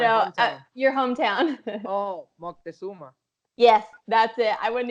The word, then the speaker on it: Moctezuma: Oh, Moctezuma. Yes, that's it. I wouldn't even try to pronounce it.